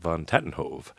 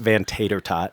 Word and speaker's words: VanTatenhove: And today is with Scotty V, Scott VanTatenhove. And sounds so official when you say it like that. Well, you know, I put a little flair into it. I usually get VanTater-tot. VanTater-tot, yes.